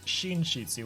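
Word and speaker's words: 寝室: which is uh mudo but because they're together it's shinshitsu which is the OWN reading which is shin shiitsu cheese it sort of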